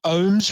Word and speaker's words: OHHMS: 4-day festival, camping included, and with bands like Loath, Ohms, which is spelled OHHMS, Red Method, Sertraline, who are both